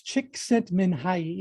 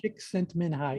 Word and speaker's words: Csikszentmihalyi: It's Csikszentmihalyi. It's Mihai, Yeah. Csikszentmihalyi.